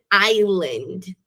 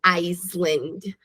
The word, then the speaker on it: island: Esse S desaparece. No man is an island, não Iceland. Some com esse S.